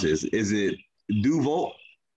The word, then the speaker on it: Deus Vult: creators of help me pronounce this is it duval it's doss vote it's it's pronounced do awesome it's latin but we pronounce it dogs vote because of the fact is we knew it